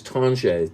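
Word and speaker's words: Tanger: detroit li detroit and the group is tanjay t-a-n-g-e-r but uh anyway so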